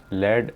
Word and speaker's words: lead: जिसको हम कहते हैं लेड एसिड बैटरी। इसकी स्पेलिंग लीड की तरह ही है, लेकिन यही स्पेलिंग LEAD जो है वो लेड के लिए भी यूज़ होती है यहाँ पर, लेड एसिड बैटरी।